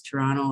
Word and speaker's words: Toronto: And I'm laughing because we were chatting before this webinar started, and Apparently I pronounce Toronto like a real Toronto person, so leave out the second T.